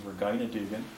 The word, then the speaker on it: Regina Dugan: Here's Regina, or also known as, actually, I think the correct pronunciation is Regina Dugan.